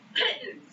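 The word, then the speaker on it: pitons: laugh at me petons it's just Pitt pittens like kittens it's just 12 kittens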